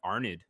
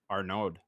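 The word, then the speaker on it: Arnaud: from reflectel uh uh arnid or no arnode from a flight no you don't you don't pronounce the d you don't pronounce the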